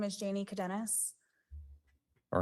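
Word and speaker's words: Cadenas: My name is Janie Cadennus. All right. Can you spell that last name?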